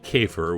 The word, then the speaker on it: Käfer: You know, the Germans, I think it's pronounced Käfer, which means beetle, but in France, they called it the ladybug.